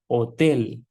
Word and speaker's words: hotel: So it is not hotel. Like it is not hola. Hola is hello. It is not hola, but it is hola. We have to read this part only. H is silent. So hotel.